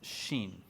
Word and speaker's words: Shin: this word this um so it's Sheen like Charlie it's like Sheen like